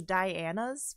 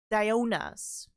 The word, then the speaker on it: Diona: I thought it was Diana's Flower Shop, but it's actually, Diona's Flower Shop, which the only way